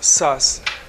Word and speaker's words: Thomas Szasz: That's a Hungarian last name, is pronounced Szasz. Thomas Szasz, a psychiatrist and the founder of the anti-psychiatry movement.